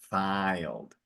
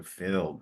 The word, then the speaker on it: filled: it filled very good the two L's help you figure out that it's it's it's a closed eye not an open eye so it's it's like a filled not filed so filled very good okay so